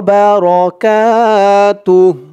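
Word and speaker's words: بركاته: রাহমাতুল্লাহি ওয়া রাহমাতুল্লাহি ওয়া বারাকাতুহ বা র বলা যাবে না বলতে হবে রয় বারাকাতুহ ওয়া বারাকাতুহ এখানে থামার কারণে বলতে হবে তুহ তুহ ওয়াবারাকাতুহ ওয়া রাহমাতুল্লাহি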